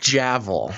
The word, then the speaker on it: Javel: It's I think Javel. Javel. I saw a thing. It's pronounced like gavel.